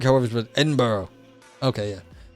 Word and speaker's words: Edinburgh: Like, it won't go away, but it's like, Edinburgh, however, but Edinburgh. Okay, yeah. Yes, I know I mispronounced that one. But I'm doing Edinburgh, yeah. No, I was doing the stupid US pronunciation.